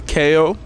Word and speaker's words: Kayo: have your name and then you need to spell it for us my name is KO k a yo it's my name and tell